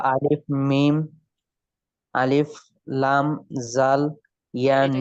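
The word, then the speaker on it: ذال: জাল। এই তো মানে জিভা বের করতে বলছি এখন পারলেন, যে ওই চিত্র দেখাইয়া জিভা বের করতে, হ্যাঁ জিভা বের করে উপরে দাঁতে লাগিয়ে উচ্চারণ করতে হবে।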